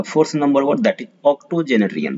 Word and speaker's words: octogenarian: Then comes 109th number और आज का fourth number word, that is ऑक्टोजेनरियन। पढ़ते ऐसे हैं, ऑक्टो जेनेरियन, ऑक्टोजेनेरियन, 80 साल का, जिनका